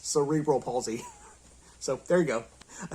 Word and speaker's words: cerebral palsy: So I just wanted to give this quick video today, kind of a fun topic, but the official pronunciation for cerebral palsy is cerebral palsy.